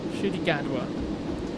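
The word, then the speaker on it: Ncuti Gatwa: google thank you okay that's how we pronounce it apparently should he gadwa so he will be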